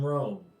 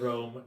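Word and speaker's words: Roan: You find yourself, I can't believe I need to say this, in Rome. Sorry, what? We No, called it Rome, no relation.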